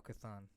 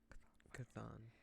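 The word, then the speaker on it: Chthon: out how to pronounce his name how we pronounce his name oh cathan yes cathan kathan um but in that scene she mentions patro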